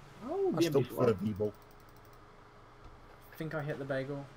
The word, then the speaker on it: VBL: So, it is pronounced the VBL. Yeah, there we go. Makes it easy. We got it right. Oh, I still prefer V-Ball.